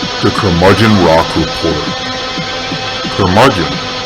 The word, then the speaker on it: curmudgeon: the curmudgeon rock report curmudgeon rhymes with bludgeon rock gods do it